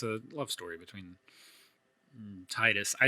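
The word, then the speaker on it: Tidus: It's a love story between Titus.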